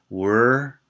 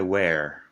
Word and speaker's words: were: Were es distinto que where. Where, ¿de dónde? Were, el pasado de to be.